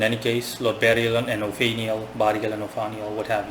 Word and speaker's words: Ophaniel: Instead, Lord Ophaniel, I prefer to call him by the, just pronounce his name flat, Ophaniel, just like Bariel and Ophaniel.